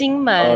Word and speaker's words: Kinmen: Jingmen. Okay. Jingmen. Okay. Kinmen. Yeah. So Jingmen is in Mandarin, but if you translate to English, we will call it Kinmen.